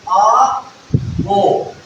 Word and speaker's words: Aufbau: So, the word is pronounced as A, Bo.